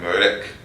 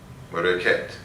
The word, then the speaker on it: Ma'at: And so, given these correspondences here, is it Ma'at? How would you pronounce it? How would you? It's more like Merek, Mereket.